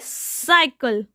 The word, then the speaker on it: cycle: Now students, here C is followed by Y. So C will be pronounced as S. Okay, cycle.